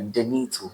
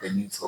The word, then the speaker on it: Denito: I know, but most people mispronounce the name. okay de Dennis song, okay but I don't like Dennis. okay Into no, me and a Denito. Me-Dennito So the name is Denito.